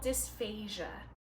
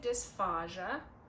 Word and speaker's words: dysphagia: It's called dysphagia. Some people say dysphagia. I'm not one of those.